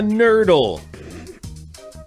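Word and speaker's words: nurdle: my favorite names a nerdl that's gonna be my nickname for you i'm a nerdless nerdle it's well it's spelled the n-u-r-d-l-e not n like revenge of the nerds not nerd nerd yeah nerdl hey do you know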